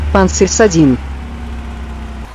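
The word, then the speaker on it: Панцирь-С2: The Pantsir system, NATO designated as SA-22 Greyhound, and which is pronounced in Russian as Pantsir S2.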